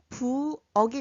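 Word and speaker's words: 부엌: 기역의 받침 소리는 윽. 그러면 채윽해서 책이 되고 어윽, 부억이 됩니다.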